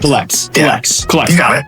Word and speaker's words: CollX: But it's like one who collects things. Collects.